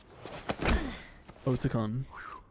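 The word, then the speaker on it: Otacon: do it's all right oton that's how you say it oton snake it's ticon are that's how you say it it's like oats like porridge oats it's started I must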